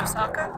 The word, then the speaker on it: Oscar: I prefer Kate, and it's pronounced Osaka.